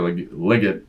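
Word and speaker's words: Legette: They're running that throwback to Xavier Liggett, is how you say his name apparently.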